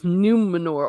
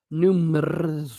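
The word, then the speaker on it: Númenor: All right, let's see what butchery they're going to be doing to Numenor, or rather, Numenor. Because, okay, you can roll your R's a little bit, but man, they went nuts.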